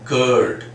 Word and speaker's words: curd: we say as in curd, cur. So exactly we don't pronounce it in that way, because it should be in British pronunciation we don't sound that r.